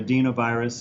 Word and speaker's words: adenovirus: ad adov virus or adenovirus it's pronounced both ways is another common type